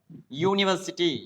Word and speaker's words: university: Though they are vowels, they are not uttered or they are not pronounced as a vowel sound. The sound which is produced here is a consonant sound. University, you, yara, lava, you